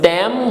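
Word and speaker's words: thème: M will give Mo, and together it becomes Tam. E will not be pronounced because the rule of French says that the last letter never gets pronounced until and unless, we have some exceptions here, until and unless we have CFLR in the end, it is never pronounced. So here E is mute.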